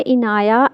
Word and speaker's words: इनाया: Name है इनाया एन के नीचे ज़ेर के साथ, और अनाया एन पर ज़बर के साथ, दोनों ही प्यारे नाम हैं और दोनों के मीनिंग अच्छे हैं।